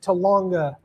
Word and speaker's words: Talanga: I had to look them up. I mean, cuz normally I just pronounce them the way that I think they're pronounced until someone corrects me, but I did look these up to make sure cuz I it's Talanga.